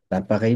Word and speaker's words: l'appareil: l'appareil মানে হচ্ছে device. এখন ধরেন যে কোনো একটা ডিভাইসকে আমরা বলতে পারি, কি বলতে পারি? লাপা, L'appareil. l'appareil, l'appareil। এটা উচ্চারণ হবে না, রেই, l'appareil, l'appareil।